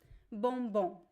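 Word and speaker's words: bombom: m b o m but we do not pronounce the M it's not bom nope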